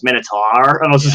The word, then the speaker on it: Minotaur: ever gave me up they're like but it's pronounced Minotaur and I was like oh yeah yeah so